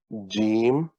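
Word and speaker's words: جیم: And this is called Jeem. Maybe it's spelled like that.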